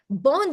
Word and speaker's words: bom: Another tip, the pronunciation tip, is that every single word in Portuguese that ends with M, it's going to be nasal. So you're going to do bom, bom, like a circled O with your mouth, not bomb, okay?